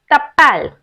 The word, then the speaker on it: t'appelles: you will raise a question like comment tu t'appelles? T'appelles. T and R together you have to pronounce t'appelles.